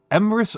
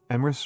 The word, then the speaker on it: Emrys: Oh, Emrys rhymes with abyss. Thank you for the follow. Thank you for the follow. Emrys rimis with abyss.